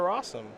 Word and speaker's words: Rosum: Let's go over to Rosum, which, as you know, rhymes with possum.